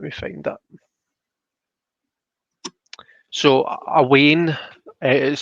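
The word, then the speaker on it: wean: find that so a wayne is spelled w-e-a-n spelled wien but it's pronounced wayne as in w-a-y-n-e um and that's just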